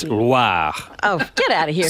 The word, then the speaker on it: Loire: It's not LWA. Oh, It's Loire.